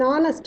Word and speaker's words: honest: It is an owl, an hour, an honest man, an heir, where H is silent.